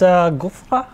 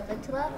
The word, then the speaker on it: Ghutra: Yes, that's Gufra. I don't know how to pronounce it. It's actually a Ghutra.